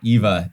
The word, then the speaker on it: Eva: Yeah, it's the German pronunciation for the name Eve. So we kind of love that. So I like it. Eva.